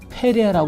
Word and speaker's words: 페레아: 우리가 말하고 있는 베레아 원래 발음은 페레라 발언합니다요 지역이 유다 지역입니다